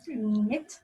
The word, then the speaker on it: knit: Knit. Knit. Es K-N-I-T. Knit. Knit. Se pronuncia knit. La K es no se pronuncia.